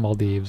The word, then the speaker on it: Maldives: I'm sorry, I'm in the Maldives. That's how you pronounce it.